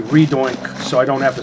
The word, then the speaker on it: Redux: The X is silent because faux French. But I don't like silent letters, so I don't really have a problem with their redux pronunciation. I just say redoink.